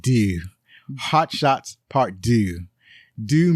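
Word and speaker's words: Deux: that's part D that that's a French word it's pronounced do Hot Shots part do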